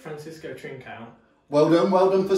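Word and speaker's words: Francisco Trincão: Yeah, it's Francisco Trincao.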